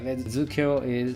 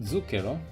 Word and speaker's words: zucchero: Just to be like, put that thing here, every single R in the names is rolled. I cannot roll R's, but you should roll R's to the pronunciation correct. So mind that when I'm talking. I'm using the correct pronunciation, but R's are rolled.